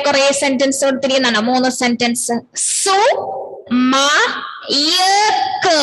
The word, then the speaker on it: സുമയ്ക്ക്: സു മയക്ക് അപ്പോഴാണ് ക്യെന്ന് നമ്മൾ ഉച്ചരിക്കുമ്പോ യായും കൂടി കേക്കും. സുമക്ക് എന്നല്ല നമ്മൾ പറയാ, സുമക്ക്. പെരക്ക യായുടെ ഉച്ചാരണം കേട്ടുന്നില്ലേ, സുമക്ക്. സുമ എന്ന് പറഞ്ഞ ഒരു ഗേളാണ്. സുമയ്ക്ക് സിനിമ, സിനിമ.